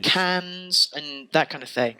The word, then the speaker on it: Cannes: Like this won awards at like Cannes and that kind of thing. And I really don't understand why. It's pronounced Cannes.